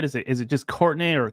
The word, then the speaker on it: Courtenay: it is it just Courtney or courtin it's Courtney it's spelled like couron but yeah it's Courtney oh okay I was about to say it's very fancy couron yeah it's the French spelling so okay Courtney uh